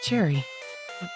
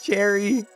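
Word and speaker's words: Cheri: It's Cherry. Like the flavor. A That's cute. Cherry. With a nervous laugh, he tugs at the hems of his sleeves. It's spelled differently though. C H E R I. It's not C H E R R Y.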